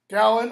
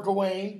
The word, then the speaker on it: Gawain: cousin the handsome inane gallon or Gawain depending on how you pronounce the second syllable the noble the worthy